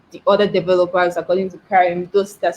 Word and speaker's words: Karim: Okay, so I know when Karim, I got that right, Karim. Is that the right pronunciation?